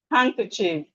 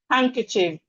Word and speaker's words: handkerchief: Then we have handkerchief. Handkerchief.